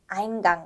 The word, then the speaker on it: Eingang: 홍어, Eingang. 네, 요거 기억하시죠? A하고 E가 만났을 때 I 발음되는 거 Eingang 아니고 Eingang입니다. 그 다음 철자 조합은 P하고 F가 만났는데 P 사운드하고 F 소리하고 만나서 이런 소리가 나게 되는데요.